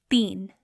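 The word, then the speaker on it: تین: One more example of the sound E. So our word is teen. Teen means 3. Teen is spelled te, choti ye, and noon.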